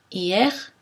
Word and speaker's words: hier: de cette voyelle donc si je prononce le mot hier très lentement ça donne y ait plus vite hier est normalement hier pareil pour le